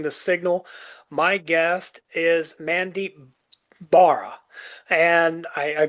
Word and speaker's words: Mandeep Bahra: This is Ed Pogue, My Figure Universe, and this week on Boosting the Signal, my guest is Mandeep Bahra. And I pronounced that correctly, right, sir?